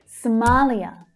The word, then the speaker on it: Somalia: Somalia. Somalia. The second syllable is the strongest.